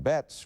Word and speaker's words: Betts: Betts, rhymes with pets, says the story.